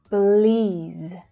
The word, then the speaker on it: Belize: Belize, Belize. So hear how that stressed vowel sound is a long vowel sound in the second syllable. Belize, Belize. And we're finishing with that Z consonant sound.